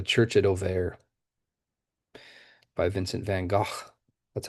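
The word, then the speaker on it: Van Gogh: I've been showing you a few paintings by Van Go this quarter and this is titled the church at Oair by Vincent Van Go.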